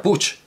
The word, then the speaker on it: Puig: sabe usted que encantarán su apellido se pronuncia puig y él decía así que qué curioso lo